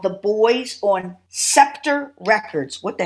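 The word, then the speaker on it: Buoys: It's spelled B-U-O-Y, right? The Bowies or Boys. Yeah. B-U-O-Y. The Boys.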